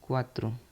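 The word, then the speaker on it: quattro: हम कहेंगे इटालिन में क्वात्र क्वात्र क्वात्र चार को हम कहेंगे क्वात्रो हिंदी में इसको चार कहते हैं लेकिन इसको इटालियन में क्वात्र कहेंगे इको क्वात्र कहेंगे क ए डबल टी आर ठीक है पांच को हम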